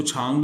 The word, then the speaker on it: 长: इसी तरह और यस, सो इसको छांग भी कहते हैं और चांग भी कहते हैं, इस कैरेक्टर को। दो प्रोनाउंसिएशंस हैं।